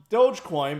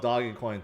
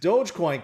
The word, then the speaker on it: Dogecoin: you guys know um I used to think it's called doggy coin too until I realized that's the wrong way to say it um and I'm not the best at pronunciation uh anyways Dogecoin can it go any